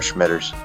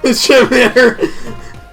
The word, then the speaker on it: scimitar: Have I ever told you about how I pronounce that curved sword that starts with an SC? Oh, you mean scimitar? Yeah, I call them Schmitters. Scimitar.